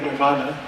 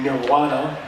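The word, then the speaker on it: निर्वाण: Nir, the nir means that. Va, and in Sanskrit they don't have a real V, it's more like a wa, okay, nirvana. There can be a short A or there can be a long A.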